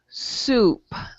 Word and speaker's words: soup: is is you see an o u combination okay that is ooh soup okay soup right soap